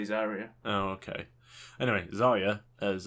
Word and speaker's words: Zarya: So, did I say Zarya? Zyra. I think it's actually pronounced Zarya. I thought it's pronounced Zyra in Russian.